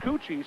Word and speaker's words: Koetje: Pronounced Cucci, spelled Koetje, 6'3 and a sophomore.